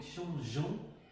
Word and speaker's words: changeons: Il faut garder le E pour bien prononcer le G. Donc, changeons de place.